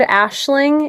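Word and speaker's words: Aisling: And it's the mixture of Ashley, as you would think it's spelled with the Irish Gaelic spelling of the word Ashling. So, a I s L I N G.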